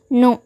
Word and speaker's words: know: நம்ம இப்போ எடுத்துக்கிட்ட வேர்டு என்ன அப்படின்னா நோ. நோ அப்படின்றத நவ் அப்படின்னு சொல்லக்கூடாது, இல்லை கேவை சைலண்ட் பண்ணிட்டு நவ் அப்படின்னு சொல்லக்கூடாது. இதை என்ஓ நோன்னு சொல்லுவோம்ல, அது மாதிரி தான் KNOW அப்படின்னு இருந்தாலும் இதை நம்ம நோன்னு தான் ப்ரொனவுன்ஸ் பண்ணணும்.